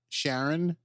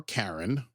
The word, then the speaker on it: Charon: Because Sharon, or Karen, depending on how you want to pronounce it, is the Greek god